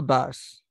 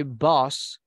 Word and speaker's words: bus: the skull boss School Bus School Bus the pronunciation is uh bus uh uh bus because if you say boss you're saying Jefe so you say Buzz